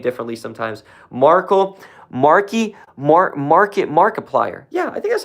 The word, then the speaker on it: Markiplier: Shout out to Markiplier. How do you pronounce his name? I want to say it the right way. People say his name differently sometimes. Markiplier.